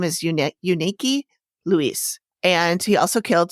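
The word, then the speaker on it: Yunieki: might be something between how do you say unique yeah it was it's spelled y-u-n-i-e-k-i which is an odd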